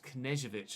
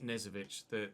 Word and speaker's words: Knežević: It's Knežević, apparently, not Nezovic. You do pronounce the K, according to Derek Gray, anyway.